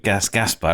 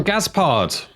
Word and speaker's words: Gaspard: Gaspard. Gaspard. Hello, sir. Gaspard. Sorry, Gaspard. You just told me your wife says Gaspard. You say Gaspard.